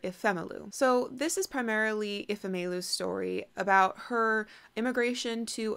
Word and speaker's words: Ifemelu: The narrator pronounced the main character's name is Ifemelu and Obinze, so I think I might try